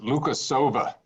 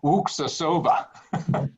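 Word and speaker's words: Luksusowa: That's like my favorite vodka is when people look at it, they pronounce it Lukasova, and it's Wuksasova.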